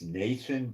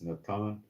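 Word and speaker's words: נתן: Nan in Hebrew um you would pronounce it in English Nathan but there's no th sound in Hebrew so it's Natan um I will place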